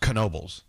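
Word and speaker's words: Knoebels: By the way, the park in Pennsylvania is it's pronounced Canobyl. Is that how you say? Yeah, it it's Kenobyl is how you say it.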